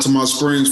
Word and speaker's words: Altamonte Springs: name up man so tell me how to pronounce the city you guys were born and raised out to my springs florida got it got it got it i'm